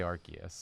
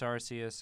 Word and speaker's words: Arceus: I always say Arceus. I always say Arceus too. I know it's Arceus. I know. I mispronounce everything.